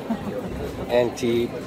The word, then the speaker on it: Antibes: Antibes, French Riviera. Yes. They don't pronounce S's.